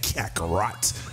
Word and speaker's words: Kakarot: You gotta say it like that, Kakarot.